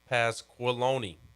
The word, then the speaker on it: Pasqualoni: and an off-the-field staff member at florida paul pasqualoni oh the former syracuse head coach yeah yes